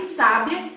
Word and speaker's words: sábia: bem assertivo por exemplo a palavra sabia sabiá e sábia são palavras que tem a mesma grafia o que muda de cada uma delas é aonde nós marcamos a sílaba tônica então quando eu falo